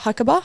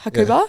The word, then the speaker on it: Hakuba: to I don't know how to say it hakaba hakuba hakuba yeah and then we went to hakaba